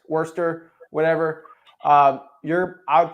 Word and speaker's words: Worcester: if you're in the Worchester area I'm definitely saying it wrong who cares Worcester whatever um you're I